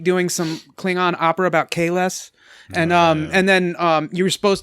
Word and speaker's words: Kahless: in the street doing some Klingon opera about Kahless.